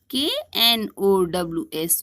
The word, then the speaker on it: knows: Knows, nose. Wood, wood. Would, wood. Flew, flew. Flu, flew. Not, not. Knot, knots. All are similar in pronunciation.